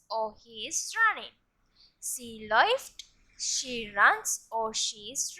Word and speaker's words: läuft: umlaut in the stem, the pronunciation is different. It is oi. Ich laufe, I run or I am running. Du läufst, you run or you are running. Läuft, he runs or he is running.